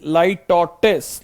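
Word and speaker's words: litotes: Pronunciation भी हम देख सकते हैं गाइस, लाइटोटिस।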